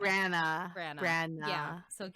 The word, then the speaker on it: Branagh: This Branagh? guy. How do you say his last name? Branagh.